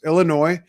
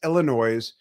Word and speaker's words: Illinois: So, Q76 coming to us from Glenville, Illinois, which is really how it's pronounced, but it's Illinois, not Illinois's. That's very annoy-sing. It's Illinois in American speak, but Nobody's Fault But Mine.